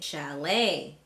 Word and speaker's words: chalet: So in words like ballet, rapport, gourmet, chalet, and cabaret, the T is silent.